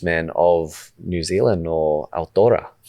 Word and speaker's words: Aotearoa: And from your learnings as an Indigenous man of New Zealand, or Aotearoa. Am I pronouncing that right? Aotearoa. Aotearoa. So Aotearoa. Yeah, beautiful.